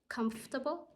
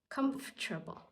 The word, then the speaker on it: comfortable: it's better to say it has two pronunciation the British pronunciation comfortable or the American pronunciation comfortable how does that sound